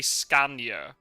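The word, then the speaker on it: Skåne: do you pronounce it we say scan in English but I think it's like in like the southern bit of Sweden scorner scorner and they they used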